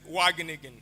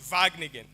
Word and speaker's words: Wageningen: And then I said, Wageningen, because that is how you actually spell it. It's W-A. And then he laughed and said, it's Wageningen.